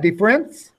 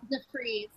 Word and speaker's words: DeFreeze: How do you say that? DeFriends? DeFreeze. DeFreeze.